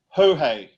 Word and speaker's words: Jorge: He's telling us that it's actually pronounced Jorge. Jorge? Jorge? Jorge. Jorge. I told you it was Jorge Jimenez.